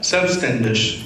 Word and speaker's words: Selbstständig: Okay, this is pronounced as Selbstständig, which means in Germany to be self-employed.